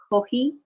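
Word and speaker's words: コーヒー: It's pronounced kohi. Kohi in Japanese.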